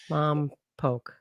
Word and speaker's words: Lompoc: Lamp poke. Lamp poke. Yeah. So it rhymes with mom and then poke. Lomb poke.